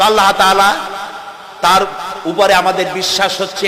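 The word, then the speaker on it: الله: নাম আল্লাহ বলেন তো আল্লাহ আল্লাহ নয় কিন্তু আল্লাহ হচ্ছে অশুদ্ধ শুদ্ধ হচ্ছে আল্লাহ বলার সময় মুখটা গোল হয়ে যাবে বলেন তো সবাই উচ্চারণ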